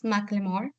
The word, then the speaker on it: Macklemore: So the pronunciation is Macklemore.